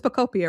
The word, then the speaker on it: Pokopia: It's Pocopia, right?